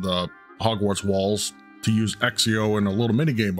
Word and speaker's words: Accio: That's how that's pronounced. Accio.